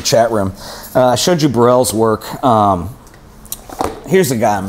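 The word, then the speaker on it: Baril: And it's pronounced Burrell.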